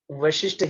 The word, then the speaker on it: Vashishta: So the pronunciation is not Vashishta here, it is Yoga Vashishta.